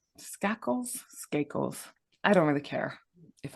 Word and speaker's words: Skakel: I think it's Skakel.